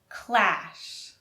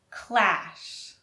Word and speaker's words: clash: Clash has the L. Clash. Clash. And crush has the R and U sound.